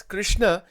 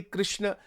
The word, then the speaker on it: Krishna: Actually, in Sanskrit, if you say it properly, it's Hare Krishna. This word Krishna or Krishna, these are all mispronunciations in reality. But it's okay, it doesn't matter. Bhagwan ko, it doesn't, because people in North India say Krishna. In Gujarat, they say Krishna. The actual pronunciation is Krishna. This is the right pronunciation.